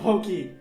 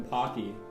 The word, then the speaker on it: Pocky: And pokey is actually close to the the actual pronunciation than pocky. Yeah.